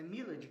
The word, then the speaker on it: Milad: É Milad mesmo que pronuncia?